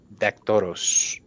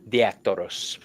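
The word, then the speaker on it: Diaktoros: Um, this is a form of communication for me to work for Hermes Dactoros. Um, the I always say it wrong. Diactoros, the messenger.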